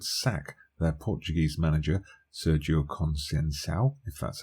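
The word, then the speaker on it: Conceição: game severe wood sack their Portuguese manager Sergio conscience ow that's how you say his name and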